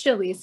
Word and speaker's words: Chalice: I always hate to do that, but Chalice? Yeah, hi. It's Chalice. It's spelled like Chalice.